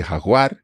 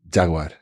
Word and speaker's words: Jaguar: animal interesting okay so you say Hagar but Jaguar exactly for the for the car yeah that is completely